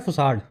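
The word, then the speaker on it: façade: तो इसको फैकेड नहीं बोला जाता, इसका प्रोनाउंसिएशन होता है फुसाड, ठीक है।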